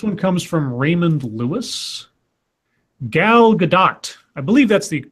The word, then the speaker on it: Gal Gadot: Gal Gadot. I believe that's the correct way to say her last name, Gal Gadot.